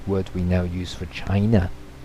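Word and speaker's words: Qin: we now use for China seeing is pronounced chin yeah so going back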